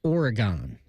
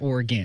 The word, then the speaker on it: Oregon: wrote it down here, I had to write it like phonetically. So I wrote with an I, like Oregon. Oregon.